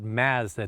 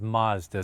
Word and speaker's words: Mazda: another look at the Mazda 3 once again for those of you who live in the United States in Canada we call it Mazda not Mazda so I am saying it correctly this is a Canadian